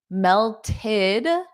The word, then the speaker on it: melted: The ice melted id because it adds an extra syllable.